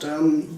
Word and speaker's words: jern: We have the normal J, which is in Danish a soft kind of, like in English, a soft kind of Y sound, I guess. Like if you want to say iron in Danish, it's called jern, jern, that sound, that's a J in Danish.